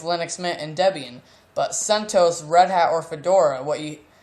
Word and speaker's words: CentOS: red hats base or CentOS which is based off Red Hat that is maintained by the community it's spelled sent OS even though that's not how it's spelled it's CentOS people CentOS and it stands for a